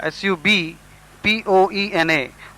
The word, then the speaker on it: subpoena: falsely under oath subpoena s u b p o e n a the B is silent here and it is pronounced